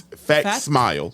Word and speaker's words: facsimile: Facsimile, y'all. And it's spelt with a C. Don't spell it with an X. Yeah, because it's fact smile. Yeah, fact smile.